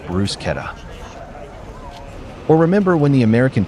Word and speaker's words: bruschetta: Her party wanted to find people around $100,000 for saying bruschetta instead of Bruce Keta.